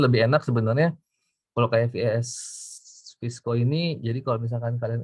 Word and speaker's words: VSCO: Nah, untuk aplikasi apps itu Lightroom juga ada, Snapseed, aku bacanya Visco sih ya, terserah sih, VSCO gitu.